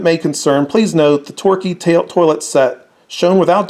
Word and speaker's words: Torquay: was called and this is their toilet set Torquay here it is tio our qu a why it's pronounced Torquay and it's virtually identical to Homer Lachlan that